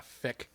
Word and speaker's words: feck: All of their exclamations are so like in Ireland it's like you say fuck, but you pronounce the U as an E. Yeah, feck. Yeah, it comes out as feck.